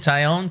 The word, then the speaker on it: Taillon: Taillon, that's Taillon. How you say it? Taillon, cool.